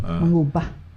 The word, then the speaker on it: Manguba: Ang pronunciation, no? Manguba.